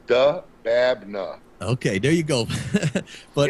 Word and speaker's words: Dababneh: I'm not attempting it it's really phonetic brother it's du babna okay there you go